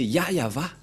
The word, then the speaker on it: Yahvah: juif il y a ceux qui prononcent Jéhovah ce n'est pas le nom de ce Dieu ni y avit mais le nom que AB et Moché l'ont appelé c'est très clair c'est yayava voilà donc Abraham le